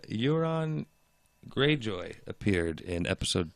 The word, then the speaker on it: Euron: It's not urine. Euron. It's Euron. Euron.